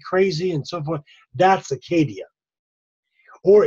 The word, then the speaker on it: acedia: The next word is acedia or acadia, as they pronounced it in Greek.